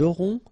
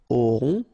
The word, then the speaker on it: auront: Then, ils auront, final T not pronounced, O-N together, on, auront, okay, and then the link between the two, ils auront, elles auront.